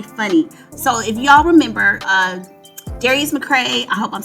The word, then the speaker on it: Darius McCrary: Okay, so I mispronounced his name. It's Darius McCrary.